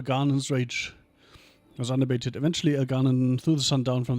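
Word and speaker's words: Elgar'nan: alanan El Ganan Elan well technically right if we keep um doing the second syllable that is El Ganan El Ganan took in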